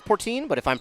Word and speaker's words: Portin: It's the P O R T I N. Pretty sure that's Portine, but if I'm pronouncing it wrong, any Princeton fans, I do sincerely apologize.